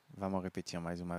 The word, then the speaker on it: où: Só esse sonzinho de u significa onde. Exatamente, gente. Só esse o-u que se pronuncia u, u.